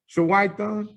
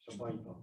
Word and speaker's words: Shabaita: Shawaitan? With a B. Shabaita.